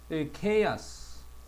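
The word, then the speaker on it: chaos: 요런 구조인데 공통 분모 찾아 뒤쪽에 쫙 오거나 단어들을 보면 케아스 혼돈의 경우에 그다음 안정성을 예 혼란 혼동 그 카우스라고 읽기도 하고 케아스라고 하기도 합니다.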